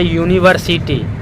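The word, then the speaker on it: university: जैसे यूनिवर्सिटी है तो यू से स्टार्ट, लेकिन इसका प्रोनाउंसिएशन कैसे हो रहा है, यू से, योर वाला यू से होता है।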